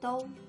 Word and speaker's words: 豆: Then the plus o makes do.